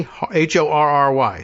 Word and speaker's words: Horry: Is it Horry County? Horry. Sorry, but with an H.